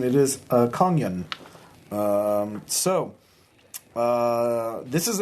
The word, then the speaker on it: Kongyùn: little uh label on the Rock uh uh pronouncing it is a konyan um so uh this is an emergency she